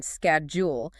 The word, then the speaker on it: schedule: by your native language, maybe it's four syllables. Every letter pronounced, right? Exactly. When a native speaker says the two-cllable, much softer version, scadul, your brain searches your library and finds nothing.